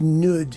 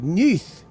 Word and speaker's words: Nudd: Uh Holbrooke's concerto has a subtitle, The Song of Gwion ap Nudd, which I understand is not pronounced Nudd if you're Welsh. It's pronounced something like Neeth or something like that, but I really couldn't care less.